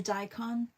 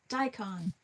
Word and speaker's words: daikon: A daon. Daikon, have a good day, Melissa.